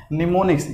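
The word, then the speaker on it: mnemonics: का नाम क्या है, निमोनिक्स। यहाँ पे एम साइलेंट रहता है इसलिए इसको बताया निमोनिक्स कोड।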